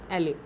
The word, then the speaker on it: elle: Spelling है ELLE, एले।